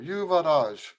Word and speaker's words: Yuvaraj: going to try to you varage now I'm putting the accent on the last syllable yuvaraj okay all right so